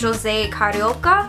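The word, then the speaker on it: José Carioca: It is a super old figure of the character Jose Carioca is how Donald says it. I'm pretty sure because he speaks Portuguese, it's pronounced Jose Carioca, but he is actually one of my very favorite Disney characters.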